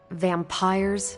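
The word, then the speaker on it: vampyre: Vampires with a Y? Pronounced exactly the same as vampires.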